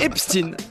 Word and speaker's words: Epstein: Alors, apparemment, c'est epstine.